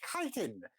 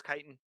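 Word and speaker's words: chitin: way it is pronounced kiten the CH is the Greek version which is okay I thought it was chitten nope it's Kiton okay I've I have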